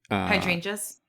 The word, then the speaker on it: hydrangea: hydrangeas. Yes. And I've always heard hydrangea, which, Yeah. I mean, maybe that's not the correct way, or maybe that's the American way.